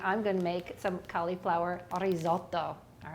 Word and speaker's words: risotto: make cauliflower risotto and if you can roll your r's let me know risotto all right and then